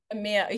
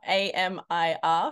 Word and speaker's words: Amir: b boys oh in no particular order um Amir I'm sorry Amir who who is Amir Amia you prob it's probably my Australian accent Amia a m i r from Kazakhstan ah I'm it's my Australian I'm